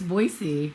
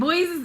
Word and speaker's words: Boise: i need to respect that uh that it's voicey and i don't know why we don't just